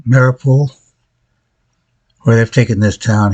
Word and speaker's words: Mariupol: So over here you have, say it right, Mariupol, where they've taken this town here.